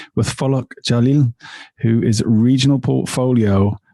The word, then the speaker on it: Falak: Very well, good pronunciation of my name. Hi, I'm Falak.